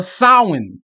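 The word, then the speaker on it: Samhain: which is uh originates from the Celtic uh sin it's it's it's it's spelled Sam Hayne but it's pronounced s okay the Celtic sin Festival that's that was in Ireland okay Ireland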